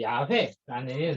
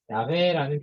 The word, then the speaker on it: 야훼: 사실은 이제 야훼라는 발음이 조금 더 가깝다는 견해도 있다고 합니다. 이게 이제 초대 교부들, 2세기, 4세기, 2세기, 4세기 이때쯤에 교부들에 의해서 야훼라는 표현이 제일 가깝다라는 이제 이것도 뭐 영어에 뭐가 있겠죠?